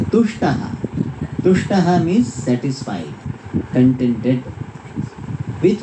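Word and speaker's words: तुष्टः: It should be pronounced properly. Tushtaha, not dushtaha. In Tamil, ta and da are same. Therefore say tushtaha, they will say dushtaha. In Sanskrit, dushtaha means a wicked person.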